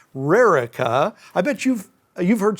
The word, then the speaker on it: Rericha: r r i c h a and it's Rara I bet you've you've heard some interesting uh pronunciations that name oh it made it made